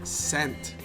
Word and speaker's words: scent: silent in the word scent? I think the C is silent, in my opinion. What do you think? Scent. Is the S or the C silent in the word scent? The C is silent.